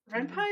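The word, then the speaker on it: Ren'Py: I used to call it Renpi, and then someone corrected me. Because it's short for Python. Yeah. Oh, okay. Yeah, because it's based on Python. So it is But Renpai.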